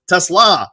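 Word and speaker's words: TeSlaa: I was like look this is the kid pronouncing his name. It's Tesla and everybody some guy was like well I'm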